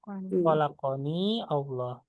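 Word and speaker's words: خلقني الله: Nah, kalau misalnya ingin disambungkan langsung gitu ya, jadinya yang awalnya disukunkan yanya jadi difathahkan jadinya khalaq gitu ya.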